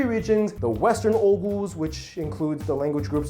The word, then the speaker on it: Oghuz: I've heard it pronounced Oghuz. You don't pronounce the G, whatever. Oghuz.